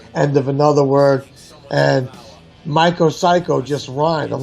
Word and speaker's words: MykoCyko: You tell me if I pronounce it that well. MykoCyko? Yeah, MykoCyko.